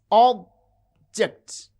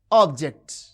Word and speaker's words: object: You can see object, object. The first syllable has prominence, it has extra force and full vowel quality. And ject, this is unstressed.